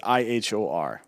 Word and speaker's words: Ihor: uh your i'm sorry that's ihor eeyore really yeah like the like the donkey and uh winnie the pooh pronounced the same way as my understanding yeah